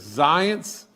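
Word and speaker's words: Zients: I was on the phone at 1:30 with him yesterday and uh his name is Jeff and and I think you pronounce his last name as Zance and everything.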